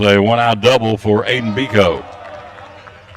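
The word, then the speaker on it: Beeco: inning for Aidan Biko b-e-e-c-o pronouncing phonetically Biko the third baseman for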